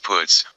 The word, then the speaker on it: Puts: There's my oldest friend and first boyfriend, Puts, pronounced Puts, unlike the Yiddish insult.